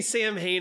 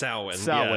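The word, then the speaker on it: Samhain: so weird well they say it's they say sam hayne in the movies but it's pronounced souwan yeah so the first one was michael myers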